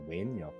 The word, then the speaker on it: Nguyen: Because like how like the Vietnamese last name Nguye and it's pronounced Win, Inga.